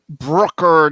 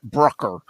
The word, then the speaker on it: Brucker: uh it's like it's like trucker but with a b and pronounce Brooker not Brooker okay yeah and and